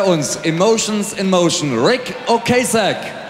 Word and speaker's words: Ocasek: Ich kann, habe gesagt, naja, also der Name wird ein bisschen anders ausgesprochen, der heißt nun mal Ocasek.